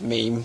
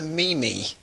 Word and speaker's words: meme: and uh English Heritage at least I knew how to pronounce meme when I first read it I think a lot of people my age and over might think what the heck is a Mimi got a bit of